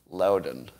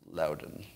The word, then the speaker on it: Loudoun: time I'm being I'm being told that the pronunciation of that school is uh Loudoun Louden thank you so uh if you have other